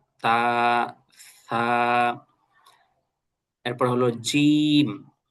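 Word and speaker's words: ج: এরপর হলো জিম। এই অক্ষরটা হলো খানিকটা ওই যে আমাদের বাংলা ভাষায় যে বর্গীয় জ আছে ওইটার মত জিম একটু ভর দিয়ে উচ্চারণ করতে হবে জিম। এরপরেরটা হল হা।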